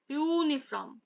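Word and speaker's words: uniform: ঠিক আছে, মেন যে উচ্চারণটা এইটা ইউনিফর্ম, তাই জন্য এখানে এ ইউজ হয়েছে।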